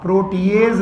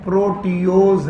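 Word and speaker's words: proteose: Spelling बहुत याद रखना, प्रोटीएज नहीं है, प्रोटियोज है।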